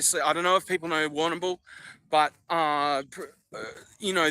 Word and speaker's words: Warrnambool: Obviously, I don't know if people know Warrnambool, but you know, the Indigenous would pronounce it Warrnambool. But you know, not this fucking white man Warrnambool.